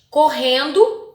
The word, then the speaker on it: correndo: Ora tem um R só e correndo tem dois R's. Eu pronunciei da mesma forma? Correndo e ora. Não, foi diferente, né?